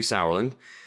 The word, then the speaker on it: Sauerland: My name's uh Sourland.